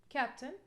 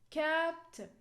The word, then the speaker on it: captain: rule the first syllable captain captain you can see you can hear it clearly that cap is over than 10.